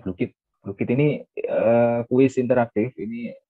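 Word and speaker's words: Blooket: Ini ada BlueCat. Oh, BlueKit yang bacanya BlueKit.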